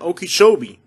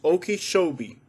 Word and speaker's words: Okeechobee: that i pronounced this as long as i've lived in florida it's been okeechobee apparently the subscriber thinks there's a different way of saying it as far as i know it's okeechobee and it's a native